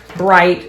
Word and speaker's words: bright: So chip, we have a ch, we have a ip, like church, cheese, chart, bright. She knew the silent G and H.